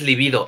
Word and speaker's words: libido: Siempre tienen la pregunta si libido lleva acento en la I o no. Porque Sí, entonces ¿no? Porque hay li dos. Hay libido. líbido y libido. ¿Y este cuál es? ¿Y este Ah, cuál? este es libido, este es libido.